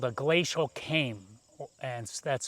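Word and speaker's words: kame: And that's called a glacial ceme. And that's spelled K A M E.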